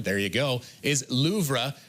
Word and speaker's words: Louvre: Babbel says the correct pronunciation, there you go, is Louvre, with a very soft pronunciation on the R.